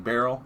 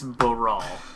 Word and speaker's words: Baral: Oh, who was it saying barrel? It was, people say barrel, and that's not correct. It's Brawl.